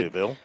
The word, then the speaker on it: Louisville: They said Louisville. Up there. I have a couple friends that live up there. Louisville. Well, they kind of swallow the words. That's right, Louisville. I like Louisville.